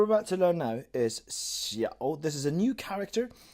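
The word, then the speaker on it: 小: So what we're about to learn now is xiao. This is a new character, and it is written like this. So it's pronounced like this, I should say. It comes with a third tone.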